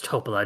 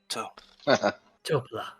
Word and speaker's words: Topola: No, my name is Topola, no surname. Accent on the toe. Topola.